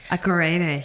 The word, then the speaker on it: Akorede: Akorede. Yeah, but most people say I say my second name wrong.